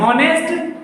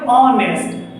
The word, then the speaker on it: honest: ये लिखा तो है हॉनेस्ट, क्या लिखा है, हॉनेस्ट, बट पढ़ते हैं ऑनेस्ट। जो पढ़ते हैं हमको उससे मतलब है, पढ़ना मतलब प्रोनाउंसिएट करना, उच्चारण निकालना। तो हमेशा उच्चारण क्या निकालते हैं, ऑनेस्ट ना, ऑनेस्ट, ये उच्चारण होता है हमारा।